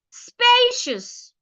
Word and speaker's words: spacious: What if it's an adjective and it also has 2 syllables? You are expected to stress the first syllable as well.